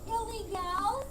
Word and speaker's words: Ille-Gals: Excuse me, that's pronounced Ille-Gals?